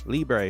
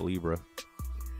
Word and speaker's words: Libre: and the Libre decks let's go Libre I think I've been saying it wrong I'm calling it Libra and the Libra decks